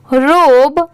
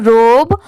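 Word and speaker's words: robe: एल यू ई blue रोब आर ओ बी ई इसे क्या प्रोनाउंस किया जाता है रोब बहुत सारे लोग जिनको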